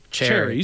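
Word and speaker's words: chary: If you turn me on here, it's cherry. So it is C-H-A-R-Y, but it's pronounced just like the fruit.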